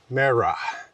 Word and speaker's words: Mara: Mare like Mary. Ra like the sun god. Mara.